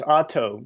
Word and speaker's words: Otto: It's Otto, just like a car, but O-T-T-O.